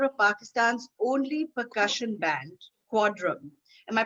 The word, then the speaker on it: Quadrum: He is a member of Pakistan's only percussion band, Quadrum. Am I pronouncing that right, Saad? Yes, that's Quadrum. right. Yes, Quadrum.